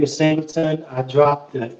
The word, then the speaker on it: Singltn: I didn't tell them how to pronounce it. I just wrote it Singltn. And they pronounced it when my drink was ready, and it was like Singltn. I was like, oh, it worked.